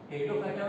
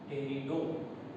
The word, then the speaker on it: Pteridophyta: टेरिडोफाइटा में T silent होता है, टेरिडो।